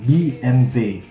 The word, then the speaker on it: BMW: The real pronunciation from the initial language is 'BMV'.